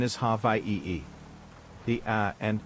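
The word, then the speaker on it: Hawaiʻi: The traditional spelling is hi and the pronunciation is ha e. The a and h merge. The w and i merge. The W makes a V sound since it's surrounded by vowels.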